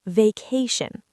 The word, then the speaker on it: vacation: Stress on the second syllable. vacation.